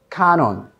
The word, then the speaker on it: count on: Count on, okay? You can cut the T, you don't have to pronounce it, and then link those.